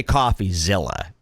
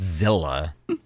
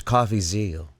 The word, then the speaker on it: Coffeezilla: that's how it's pronounced it's not Zilla this isn't Godzilla it's coffee zal like Mel so you